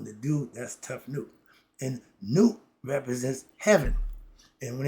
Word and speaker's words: Nut: And when it's the Nut, her name is spelled N-U-T. We spell it we pronounce it Nut. Okay, Nut. In Egyptian, the U sound like the the double O sound, Ooh.